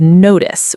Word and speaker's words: notice: Let's check the pronunciation of notice. We used this word earlier. Listen carefully. Notice. The ending has a short i sound like the word miss.